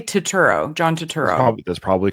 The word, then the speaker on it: Turturro: Sorry, I always say his name wrong. Turturro. How do you say his name? I say Turturro, John Turturro.